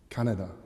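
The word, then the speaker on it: Kaneda: the main protagonist shotaro canadi and he's going to try and find and bring back his childhood friend tetsuo shima can i say it's just it's just pronounced um canada and shima on one of those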